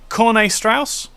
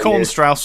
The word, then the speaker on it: Corne Strauss: Corne Strauss? Yes, that's correct. I've got it right this time. It was only because Tristan said your name. You have been called Corn Strauss or.